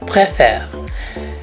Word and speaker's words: préfère: Bagian yang diucapkan "eh" adalah huruf E di tengah. "Je préfère."